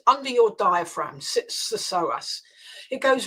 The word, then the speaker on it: psoas: Yes, you know, it's the psoas muscle. Let me spell that for your listeners.